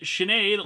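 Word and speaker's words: Sinéad: on my name's pronunciation it is Sinead like Sinead O'Connor couple of questions with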